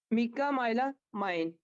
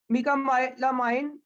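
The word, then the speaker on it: mecamylamine: M stand for क्या जी, M stand for है मिका मिका माइला मीका माइला माइन।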